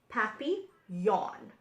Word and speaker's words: Papillon: like our neighbor's dog you say it like this happy yawn in French it means